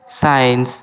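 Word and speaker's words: science: এখানে এস সাইলেন্ট। মানে এখানে এস কে উচ্চারণ করা হয় না।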